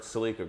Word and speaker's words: Celica: Celica.